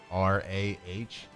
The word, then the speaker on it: genre: Is an O sound. Genre. Yeah. Maybe with a J. Jonrah.